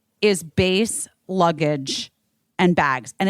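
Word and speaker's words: Béis: the show I would like to say is base luggage and bags and it's spelled b e i s bass was created by actress Shan Mitchell to make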